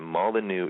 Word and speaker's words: Molyneux: type in venus project stefan molyneux debate and molly new is spelled m-o-l-y-n-e-u-x i just watched this two days